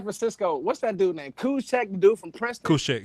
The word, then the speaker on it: Juszczyk: Kuchek. Kyle Juszczyk, but it's spelled JUSZXWF12.